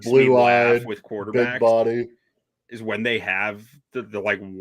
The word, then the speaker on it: Embo: Marcus Embo, we both love this kid out of Purdue. Marcus, I think it's actually just pronounced Bo. Marcus Bo. Bo.